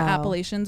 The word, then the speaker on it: Appalachian: I see a lot of Appalachian stories on Appalachian. And I didn't know that wasn't like I was calling it that too, but then Appalachian is how you pronounce it.